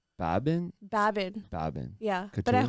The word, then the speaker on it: Baban: I'll be in Dallas yeah how do you pronounce it it's Babin Babin Babin yeah but at home it's bubin bubin okay and is that like your nickname